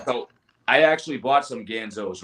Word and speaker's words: Ganzo: I mean, hell, you can get this Gonzo. Probably the springs would probably fit. Yeah. Oh yeah. The Ganzo. Sorry, I always mispronounce it.